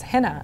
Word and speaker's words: Hena: But my name is Hena, actually. It's pronounced with almost like a light I.